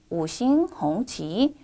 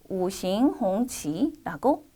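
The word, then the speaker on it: 五星红旗: 오싱홍치, 오싱홍치라고 읽습니다.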